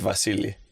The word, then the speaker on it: Vasili: In Greek, it's Vasili. Oh, that's powerful. A B is a V.